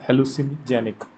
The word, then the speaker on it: hallucinogenic: H hallucinogenic.